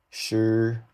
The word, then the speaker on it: shi: So this is chi, shi, like shut down, shi, zhi, chi, shi.